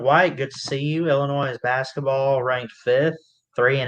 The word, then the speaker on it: Illinois: do a stream on illinois uh illinois i guess uh the s is silent we got some stuff